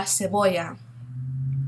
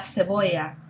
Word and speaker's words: cebolla: We have the hard C, the K, and then the soft C, which we see in cebolla, okay, that C sound, like an S.